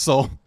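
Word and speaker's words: Seoul: It's pronounced soul. Got it. Whoops. Looks like seal.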